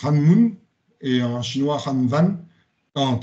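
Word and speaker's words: 한문: on l'appelle Kanbun en coréen c'est ça se prononce hananmun et en chinois hananvan en en Viet pardon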